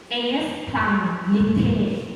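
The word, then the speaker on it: σπλαγχνίζομαι: เขา ใช้ คำ ว่า เอส พลัง นิเทศ อ่า โปรด ฟัง อีก ครั้ง หนึ่ง เอส พลัง นิเทศ อ่า ลอง ออก เสียง ด้วย กัน ดี ย คะ S พัง นิเท นะ คะ แปล ว่า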